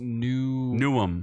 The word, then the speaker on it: Newham: I live in the Australian town Newham, except it's pronounced Newham.